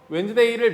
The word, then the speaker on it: Wednesday: 이거 스펠링 중요합니다. W-E-D-N-E-S 이게 웬즈야. 그래서 웬즈데이를 명사로 보면 this는 지시 대명사가 아니라 지시 형용사.